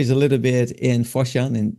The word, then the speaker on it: Foshan: a little bit in Foshan in China. Fatsan is how you say it over there.